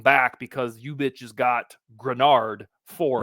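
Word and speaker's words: Greenard: It's the theory that because the Vikings signed Jonathan Grenard, I'm pronouncing it right, folks. There was some hatred in the comments. Jonathan Grenard, I've arrived, baby.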